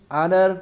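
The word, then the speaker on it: honour: Next question है, this is dash ऑनर फॉर मी। सो यहाँ ऑनर word दिया गया है और इसमें एच साइलेंट है और ये वावल साउंड दे रहा है।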